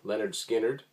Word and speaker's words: Lynyrd Skynyrd: confessions first Skynyrd album 1973 pronounced Leonard Skynyrd this is a canadian